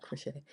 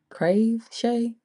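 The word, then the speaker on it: Kraveshay: Yeah crave not crochet. Crave Shay, can you see it?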